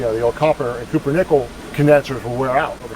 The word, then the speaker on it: cupronickel: - Cupronickel ferrum, and then I always think it says pumpernickel but it's copper nickel, I know that. - Cupronickel. - Cupro? - Cupro, C-U-P-R-O. Oh you were saying it wrong the whole time too. - I thought it's cupper.